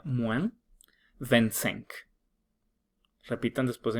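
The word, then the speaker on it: moins: le son las 11 menos mu se pronuncia mu repitan después de m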